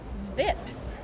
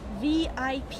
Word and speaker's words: VIP: Black permanent markers what's viip Ike asks he pronounces the acronym as a word rhyming was zip VIP you say ik Giggles